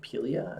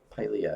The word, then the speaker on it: Pilea: Pelia? Is that aluminum plant? Pilea, I think is how you pronounce it.